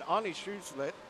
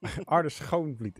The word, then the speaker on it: Arne Schoonvliet: Arnie Schulze has done brilliantly here. I know I've got that name wrong, Felix. Correct me, please. Arne Schoonvliet is it in Dutch correctly.